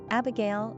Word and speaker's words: Abigale: However, they are all pronounced exactly the same way, so it's hard to understand the purpose behind respellings, unless they're intended to confuse. Abigale, Abigale, Abigale, Abigale, etc.